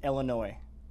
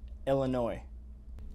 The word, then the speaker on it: Illinois: and the last thing the s is silent on illinois it's illinois say it with me illinois illinois okay we'll work on